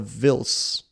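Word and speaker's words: Vhils: building Shepard Fairey of villes I must say Vince I'm gonna say a silent H I'm gonna go with silent H and thank you but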